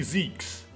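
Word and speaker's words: Zieks: foggy ocean Lord van Zeeks Mr vigil Cosmo and Gregson well it's I finally heard it pronounced it is actually Zeke's cool all of them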